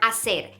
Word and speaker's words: hacer: reminders for the verb a sailor the H is silent so don't ever pronounce that age not on the Verma said and not in any of the conjugations also I said isn't